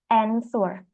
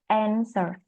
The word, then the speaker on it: answer: The speaker during speaking always pronounce letter W in answer even the letter is not pronounced in English influences from the mother